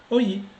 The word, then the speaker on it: an’mète: And when you see an apostrophe in a word, would it mean too that the consonant in front of the apostrophe has to be pronounced? Yes like in “an’mète” (to admit), “an’ministrâcion” (administration).